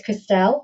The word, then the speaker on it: Kristel: It's Kristel, as my mother would say it. If you're in Southeast London, the accent then sort of covers over, becomes Kristel.